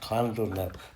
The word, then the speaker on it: Llandudno: Look how they've done that, where you get the Llandudno. Oh, I should correct myself, Llandudno.